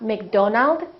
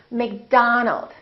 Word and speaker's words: McDonald: that contain da sound many of these words are going to be spelt with the letter O make sure that you don't say oh it's not Robert it's robert it's not McDonald its McDonald alright let's practice repeat after